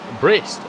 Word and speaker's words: Brist: Pointless sort of note number 2 is that there is a man in the field whose name rhymes with List. It's Brist, Robert Brist.